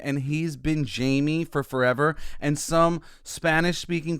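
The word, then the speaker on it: Jaime: name and he's been Jamie for forever. And some Spanish-speaking person was like, hey, well, technically it would be pronounced Hemi if we were in Mexico.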